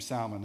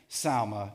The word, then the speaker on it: Salmon: We see this name Salmon. Now, some of you may say salmon. If you're from North Carolina, where I'm from, it's Salmon, right? You throw the L in there. It's actually pronounced Salma here.